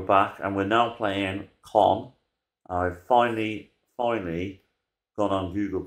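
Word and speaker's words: Caen: Right, we're back and we're now playing Con. I've finally gone on Google to find out how you pronounce their name. But yeah, Con, spelled C-A-E-N. Even though I call them Cayen or Sayen.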